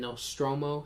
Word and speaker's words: Nostromo: on PSN it's Zeno Nostromo like I said I was a big alien fan xenos spelled with an x x e n o then no stromo sounded out n-o-s-t-r-o-m-o no stromo uh alien spaceship alien